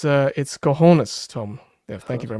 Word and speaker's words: cojones: Sorry over the mispronunciation. It's cojones, Tom.